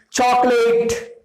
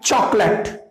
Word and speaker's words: chocolate: Most of the time people say chocolate, chocolate. Not late. It is not late. It is only let. It is pronounced like chocolate.